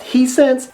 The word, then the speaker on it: Hisense: The other is a brand that I believe is pronounced Hisense, and they manufacture TVs under the Sharp and Toshiba brand name.